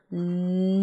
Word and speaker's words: neun: Then the number 'neun' (9). Right where we get that 'oy' sound in there.